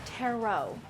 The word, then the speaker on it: tarot: Paxton, it's pronounced tarot.